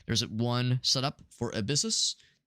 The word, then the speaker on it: Abyssus: There's one set up for Abyssus. Abyss US how you pronounce it, but that's how it's spelled. A b y ss.